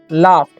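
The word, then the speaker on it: laugh: ही क्या पढ़ेंगे ही लाफ इसे पढ़ेंगे हम लाफ ठीक है क्यों पढ़ेंगे लाफ क्योंकि जीस जो य पर साइलेंट है ठीक है यानी उसका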